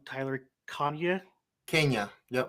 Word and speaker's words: Kania: can correct me if I'm saying your last name wrong Tyler Kane Kenya yep Kenya Kenya okay I was thinking that the first